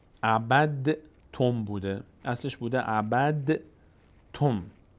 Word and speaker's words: عبدتم: دال کلا تلفظ نمیشه، تبدیل شده به حرف ما بعدش ت و ت تشدید گرفت.